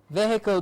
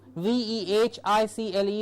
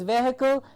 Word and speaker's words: vehicle: one place to another vehicle please do please remember the pronunciation of v-e-h-i-c-l-e is vehicle and not vehicle or vico it's vehicle yes next sentence please